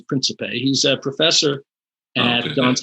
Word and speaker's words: Principe: People pronounce his name in various ways. Right. I think the dominant pronunciation is Principe.